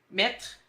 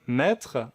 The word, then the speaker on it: maître: Le « est » de « maître » et le « est » de « maître » ou de « arrête ».